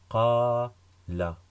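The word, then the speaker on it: قال: Donc je prononce qa. Et ici, nous avons la lettre L, lem. Donc qala, qala, qala.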